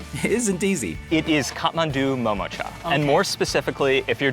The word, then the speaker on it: Kathmandu Momocha: full life although their dumplings are undoubtedly delicious pronouncing their name isn't easy it is kathmandu momocha and more specifically if you're just going to